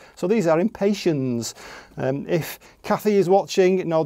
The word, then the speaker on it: Impatiens: It comes from the word impatient. So these are Impatiens.